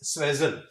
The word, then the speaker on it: suasion: The pronunciation of this is suasion.